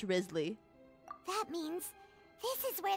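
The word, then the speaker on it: Wriothesley: Risley? Why the hell is it spelled like that if it is pronounced Risley?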